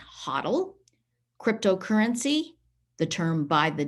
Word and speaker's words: HODL: uh square coinbase kraken that word hodl is pronounced huddle cryptocurrency the term by